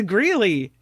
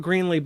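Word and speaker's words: Greeley: original plan it is gy although it is spelled with a y m g gy not Greenley but it is gy MHM gy is the right answer yeah gy Colorado next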